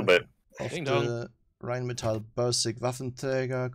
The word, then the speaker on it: Waffenträger: Of the Rheinmetall Bursig Waffenträger called the Iron Rain. Yeah, that sounds very balanced there, Lostin. You pronounced that wrong, by the way. It's Waffenträger. Waffentweiger?